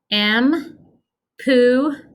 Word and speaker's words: empujar: is what our movement is going to be pronunciation m pooh okay and the movement is you're pushing